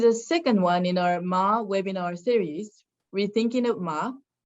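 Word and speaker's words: 間: of ma webinar series ma is a very common word in japanese it can be pronounced in many ways such as ken khan aida i indicating the different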